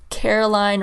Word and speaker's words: Caroline: It's Caroline rhymes with Arbor Wine, as it's so appropriate for this episode.